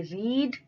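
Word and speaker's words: read: और third form में spelling same रहती है लेकिन प्रोनंसिएशन चेंज हो जाती है इसको हम पढ़ेंगे रीड यानी बड़ी ई की मात्रा वाला एक्सप्रेशन आएगा फिर पढ़ेंगे हम रेड रीड रेड रेड इस तरीके से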